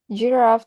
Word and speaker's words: giraffe: Giraffe has an iambic or weak strong stress pattern. The first syllable G is unstressed, and Raf carries the stress. The child drops the weak syllable entirely, keeping only the stressed one.